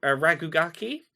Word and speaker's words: RKGK: I'm really digging um it's called rkgk I think it's pronounced raki the premise is going